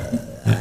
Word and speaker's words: Hoar: It's H-O-A-R, but they say it's pronounced whore.